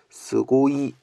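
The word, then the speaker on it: すごい: 스고이 스고이 스고이 스고이 근데 이거는 의외로 장음이 아니네요 그냥 장음이 없네 그냥 스고이 스고이 스고이 스고이 스고이이가 아니라 스고이 스고이 스고이 카와이는 카와이 오이는 오이시 뒤에를 길게 발음을 해주는데 비해 고이는 그냥 스고이 스고이 스고이인 3말 마지막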